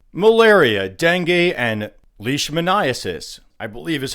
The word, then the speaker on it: leishmaniasis: And here we're talking about mosquitoes, ticks, fleas, that kind of creature, spreading diseases like malaria, dengue, and leishmaniasis, I believe is how you say that, a parasitic disease according to the CDC that we would have associated with tropical climates.